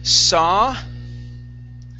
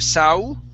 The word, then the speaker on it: saw: Let's go to the word saw. Right here, instead of saw, it's ah, saw. Saw.